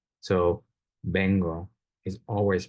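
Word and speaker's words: vengo: the list is that the written letter V is always a b sound so bengo is always pronounced bengle U it's not Bango V it's a b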